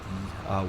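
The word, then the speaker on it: yew: tree Bales cell Point that's uh y e w I believe it's pronounced U over there is the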